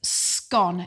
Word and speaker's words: scone: scone or scone is scone it's got to rhyme with gone so go the new